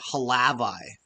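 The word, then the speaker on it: Hlavaj: Good stop by Halavi. So they're saying Halavi. Like we really pronounce that, which I guess makes sense. It's Slovakia. You know what I mean? Really got to pronounce the A.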